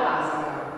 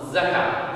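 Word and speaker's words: زكاة: Zakà o Azakà? No, Zakà. Zakà. Però se ci vuoi mettere anche l'articolo diventa Azakà.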